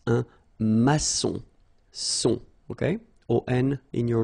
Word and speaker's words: maçon: And it just means that you will pronounce this C as S, okay? So that's the reason why. It's un maçon.